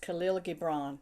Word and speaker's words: Khalil Gibran: And then this is a passage from the prophet, and I think his name is pronounced Khalil Gibran. That's how I've always pronounced it.